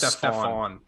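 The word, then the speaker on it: Stephan: And no, I think his name is Stefan. I'm pretty sure he's pronounced it. Stefan, sure.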